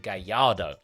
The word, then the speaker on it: Gallardo: before that is a Gallardo, or as you pronounce it, Gallardo.